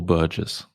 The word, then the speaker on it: Burgess: question I've always had is it Burgess or Burgess is like the emphasis on the first or the second half of the of the name on the first burges okay I I think